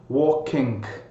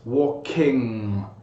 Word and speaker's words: walking: In my experience as an English teacher, students normally cut the ing sound short, so they'd go like walking, almost like a glottal stop. Or in some cases, instead of pronouncing the G at the end, they really pronounce a K. So they'd say something like walking, walking. So in English it's walking, walking. So it may be a little bit longer than you think it is.